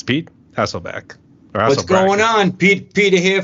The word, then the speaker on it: Hasselbrack: I think I pronounced his name wrong. I'm so used to Hasselbrack, the quarterback who used to yeah. The Seahawks, so yeah. Yep. Yeah, it's Brack. B-R-A-C-K. Yep.